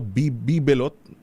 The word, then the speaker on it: bibelot: Bibilot? O ano? Tama, no? Bibelot. Yun ang pronunciation.